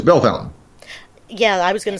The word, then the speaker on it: Bellefontaine: ta ine so my French weena wants to pronounce it belfontaine no it's Bellefontaine yeah I was gonna say a whole lot